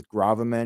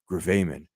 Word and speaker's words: gravamen: believe it's pronounced gravamin but I wanted to pronounce it as gravaman because I thought that sounded cooler but now